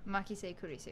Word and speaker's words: Makise Kurisu: It's Makise Kurisu. Makise Kurisu. Yep, you pronounced it pretty much right.